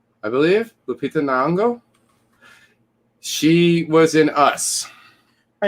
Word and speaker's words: Lupita Nyong'o: I would say I cannot pronounce her name. I'm going to try. Lupita Nyong'o, I believe. Lupita Nyong'o.